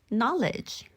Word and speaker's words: knowledge: 하죠 그다음에 no 아니고 no no 알다 아니고 knowledge knowledge 지식이란 단어죠 그리고 크 아니고 이렇게 해주시면 됩니다 3초만에 좋아지는 발음팁 오늘은가 되는 들을 살펴볼게요 주로 자음이 세